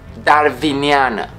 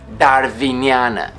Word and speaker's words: darwiniană: of foreign origin, and the pronunciation of W and Y depends on the origin of the word they appear in. For example, darwiniană, darwiniană, Darwinian.